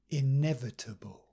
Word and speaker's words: inevitable: irreversible justifiable and lastly a five-syllable word with a different Rhythm pattern inevitable inevitable inevitable so well done we've